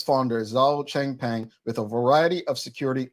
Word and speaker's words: Zhao Changpeng: 13 charges against Binance, and I believe it's pronounced Zhao Changpeng. Now, if you're not familiar, the U.S. Securities and Exchange Commission, according to the Royal Gazette, have charged Binance Holdings Limited and its founder, Zhao Changpeng, with a variety of security law violations.